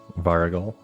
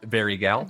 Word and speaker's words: Varigal: Varigal? Varigal. Don't look at me. All right. I've been saying honestly, I think I Varigol? pronounce it different every time. No, it's not that one. Varigal? Adventurer. Varigal. There you go.